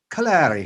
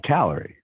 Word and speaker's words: Callery: Off of that though, we've got Callery, but not like the energy measurement, like calorie, like from the Emerald Isle. Right. Callery is how they would say it over there. Callery, but how do you say it? I say calorie.